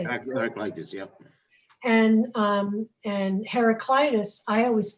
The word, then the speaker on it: Heraclitus: Heraclitus, yeah.